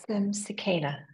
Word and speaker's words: Sukeina: Sure, it's Sukeina. Sukeina.